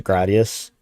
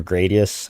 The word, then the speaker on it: Gradius: like an homage to Gradius or Gradius, however you pronounce that. I keep saying that. I think the Japanese pronunciation is Gurei Diasu.